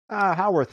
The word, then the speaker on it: Howarth: Howarth is the preferred Howard. I'm pronunciation.